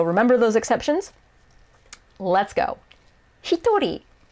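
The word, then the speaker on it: 一人: seven people so remember those exceptions let's go hitori not even close to ichi but let's keep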